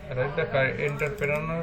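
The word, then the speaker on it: entrepreneur: আচ্ছা, এন্টারপ্রেনার মানে এন্টারপ্রেনার হচ্ছে সঠিক উচ্চারণ, এই কারেক্ট স্পেলিং হচ্ছে এটা ENTRE, এন্টার, PRENEUR, প্রেনার।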